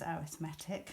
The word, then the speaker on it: arithmetic: arithmetic sequence so yeah it's spelled like the word arithmetic but we say it is our thematic which I've nothing Tony